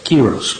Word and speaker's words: Quiros: Am I pronouncing your last name correctly? Quiros. Mr. Quiros, okay.